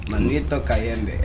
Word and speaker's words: Manito Kayembe: I want you to pronounce it in your accent, like Manito Kayembe.